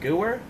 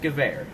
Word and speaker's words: Gewehr: some people pronounce it gooer that's fine and up to you but if you really want to be a gun nerd it's pronounced gewehr now when you play